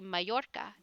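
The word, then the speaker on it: Mallorca: it would would be mayorca instead of Mala cuz you know Double L in Spanish tends to be pronounced as a y like G anyway we're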